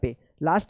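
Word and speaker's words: place: ए होगा और इस इ का कोई उच्चारण नहीं होगा।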